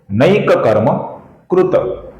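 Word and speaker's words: नैककर्मकृत्: अर्थात त ऐसा अपूर्ण उच्चारण भी नहीं करेंगे और त ऐसा पूरा उच्चारण भी नहीं करेंगे। इसका सही उच्चारण होगा नैक कर्म कृत कृत कृत।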